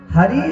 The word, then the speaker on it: हरे: के बुलाते हैं कि, तो हरि शब्द का संबोधन में बन जाता है हरे, ई को क्या हो जाता है ए।